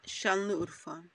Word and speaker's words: Şanlıurfa: That is today called Şanlıurfa. Am I pronouncing that correct? Şanlıurfa. Merkezi. That's your country. Yeah, Şanlıurfa.